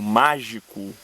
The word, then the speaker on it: mágico: Já no verso tijolo com tijolo num desenho mágico, a última palavra, mágico, é proparoxítona. Logo, a sílaba tônica dela é má, é a antepenúltima. E nós não contaremos nem gi, nem co, tá certo?